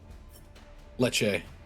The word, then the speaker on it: Leche: Leche. Leche. Got it. So it's like lychee, except with Leche. A instead.